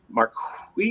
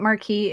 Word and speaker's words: Marquis: month on December 16th at the Marriott Marquis. Is that how to say it? Marquee. Marquee. Marquee.